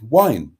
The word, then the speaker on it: Waun: I mean, WAUN is wine.